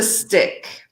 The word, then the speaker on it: stick: This is a stick. This is not steak, right? So we want to be careful with the pronunciation because we don't eat sticks. We eat steak, right? So careful there with the pronunciation. So steak, steak, steak.